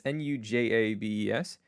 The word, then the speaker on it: Nujabes: It's Nujabes. Um, American and way to pronounce it.